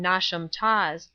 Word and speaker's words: Knotacentinum Towers: and around Knotacentinum Towers, pronounced as if written Nosham Taws, the seat of the Lord Knotascent, pronounced as if written Nosh.